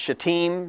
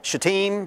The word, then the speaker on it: Shittim: which, by the way, that's a helpful pronunciation to learn if you ever teach Sunday school. It's Shittim. It's not the alternative that it looks like. Okay? Shittim, very helpful.